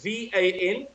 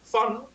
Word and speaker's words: van: The first one is V-A-N, fun, V-A-N, or Van, if you like.